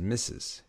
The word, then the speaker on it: Mrs: really changed over time missus was originally an abbreviation of mistress but that became pronounced as missus even though it retained the are in the abbreviation mistress was one title